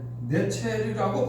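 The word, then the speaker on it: נצר: 이 나사렛은 히브리어로 네첼이라고 발음한다는 것이에요.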